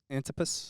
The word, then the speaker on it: Antipas: Antipas.